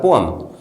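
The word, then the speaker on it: poem: क्या फर्क होता है पोएम और पोएट्री में? पोएम, जिसको हम लोग पोएम कहते थे अभी तक, लेकिन उसका सही प्रोनाउंसिएशन होता है पोअम।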